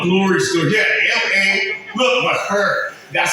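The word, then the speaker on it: Mahr: Yeah, M-A, look, Maher. That's how she pronounced it.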